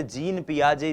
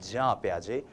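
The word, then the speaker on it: Jean Piaget: प्याजे जी हां हम इनको हिंदी भाषी लोग अक्सर जीन पियाजे जीन पियाजे कहते हैं लेकिन ये जो जीन शब्द है जे ई ए एन जो ये स्पेलिंग है ये स्पेलिंग जो है इसका उच्चारण जब आप स्विस भाषा में करते हैं यूरोपियन कंट्रीज में करते हैं फॉरेन ऑथर्स को पढ़ते हैं तो वो होता है जां प्याजे तो हम भी जां प्याजे बोलने की कोशिश करेंगे जि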